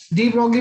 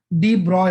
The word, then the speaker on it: de Broglie: Actually क्या है ना, हम इसको डी ब्रॉगली पढ़ते जरूर हैं, लेकिन एक्चुअली में ये इसका एग्जैक्ट प्रोनाउंसिएशन डी ब्रॉय होता है ना, कि एक्चुअली ये जानना चाहिए, भले आप डी ब्रॉगली बोलते रहो, लेकिन एग्जैक्ट जो प्रोनाउंसिएशन होता है that is your डी ब्रॉय।